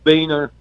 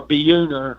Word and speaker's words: Beuner: vocalist, and I got Jeff Beener from, or Beuner is how you say his last name, from Portland, Oregon on bass.